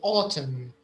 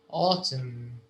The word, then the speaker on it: autumn: so here the uh the n the n is silent so we say autumn autumn and the last one